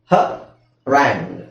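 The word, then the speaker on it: harangue: okay okay next ಇದು ಎಚ್ ಎಆರ್ ಅಂತ ಇದೆ ಇದು ಇಲ್ಲಿ ನಾಲೆ ಹ ರಾಂಗ್ ಹ ರಾಂಗ್ ಸೊ ಇಲ್ಲಿ ಯುಇ ಸೈಲೆಂಟ್ ಆಗಿರುತ್ತೆ ಸೋ ಹ ರಾಂಗ್ ರೈಟ್ ಸೊ ಇದೆಲ್ಲಾ ಸ್ಟ್ಯಾಂಡರ್ಡ್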